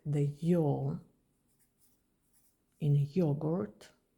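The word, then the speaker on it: ё: It is pronounced like the Y in yogurt.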